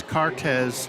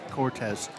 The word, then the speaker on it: Cartes: the chat they say his name is cartes not Cortez Cortez that I thank